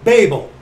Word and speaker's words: Babel: Therefore, the name of the city is called Babel, as I understand it actually should be pronounced.